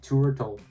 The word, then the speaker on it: Tourtle: Yes, that's how it's pronounced, Tourtle. Very weird pronunciation, but how else are you gonna say that?